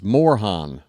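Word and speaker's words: Morejón: Is it like a H sound of the J? Like a jalapeno? Is it more jean, which sounds more like a something a little more French? I don't know. Is it two syllables? Is it three syllables? Like morajan or Morajan. Morhan. Okay, so this is an H and it's two syllables.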